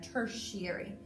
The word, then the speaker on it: tertiary: kind of smelled like dirt eery but it's pronounced shut with a shuts on there tertiary uhm so tertiaries we're gonna label those guys